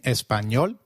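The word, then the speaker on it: Español: how to pronounce it the letter a is pronounced as ah as in father did you notice the letter enye in Espanol this letter is peculiar to Spanish it is pronounced as knee like in Canyon so can you try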